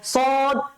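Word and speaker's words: ص: আছে শিন শিন তারপর সদ আর বদ সেম সেম এক জিনিস দুইটাই কি মোটা করে উচ্চারণ করতে হবে দুইটাই মোটা করে উচ্চারণ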